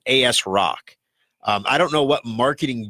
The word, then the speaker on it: ASRock: could be kids listening I'm not gonna say what that phonetically spells but you could say that you might AS rock now they're thinking hard